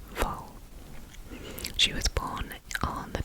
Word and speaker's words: Wall: It's spelled like W A L L, but it's pronounced V.